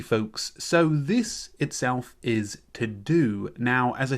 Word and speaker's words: TeuxDeux: Okie dokie folks, so this itself is TeuxDeux. Now, as I said, TeuxDeux is spelled T-E-U-X-D-E-U-X.